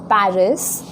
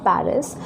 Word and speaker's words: Paris: Now when we speak in French, we do not pronounce the last letter. Okay, so for example, if I look at Paris, in English we pronounce it as Paris, but when we say it in French, we do not pronounce this letter S. Okay, so we say Paris.